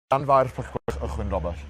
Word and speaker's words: Llanfairpwllgwyngyll: It's pronounced. Llanfairpwllgwyngyll, Llanfairpwllgwyngyll.